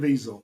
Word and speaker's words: Caviezel: Jim Caviezel.